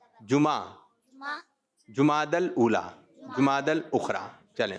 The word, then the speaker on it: جمعہ: جمعہ, جیم پر کیا ہے پیش, میم پر زبر, جمعہ, جمادی الاولی, جمادی الاخری.